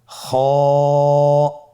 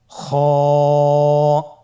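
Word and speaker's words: خاء: খ হরাফটির মাখরাজ হলো কন্ঠনালীর শেষ ভাগ হতে উচ্চারণ করতে হয়। কন্ঠনালীর শেষ ভাগ। আপনারা আমার সাথে বলুন খ আবার বলুন খ মাশআল্লাহ।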